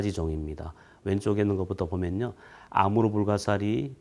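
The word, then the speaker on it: Амур: 있습니다 아서 금강 인데요 이 흑룡강 의 느 시아 발음이 아무르 입니다 그래서 아무로 강연 하네 이제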